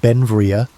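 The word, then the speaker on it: Beinn Bhreagh: Pronounced Benvia, Bel became an American citizen in 1882, but his name meaning beautiful mountain in Scottish Gaelic showed his Scottish heritage.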